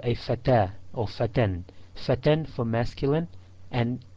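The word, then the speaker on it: فتى: Fatan. Notice fatan ends with the alif maqsura. It's a ya without the two dots, and it's pronounced as an alif but written as a ya.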